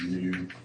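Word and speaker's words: ν: it's kind of a fancy looking V pronounce new and I'll say 1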